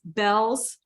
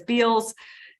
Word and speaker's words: Bealls: on their board, is Bell's department store chain out of Florida. It's spelled Bealls. Sometimes Okay. people mispronounce it as Beals and pronounce it phonetically, but it's called Bells.